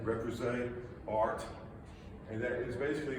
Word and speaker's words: Repoussé: I can't pronounce it. Repoussé. Say it one time. Repoussé. Repoussé art.